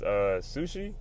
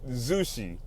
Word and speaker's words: Zushi: I think his name was Sushi? No, not Sushi. Zushi. Something like that. Something rhymes with sushi.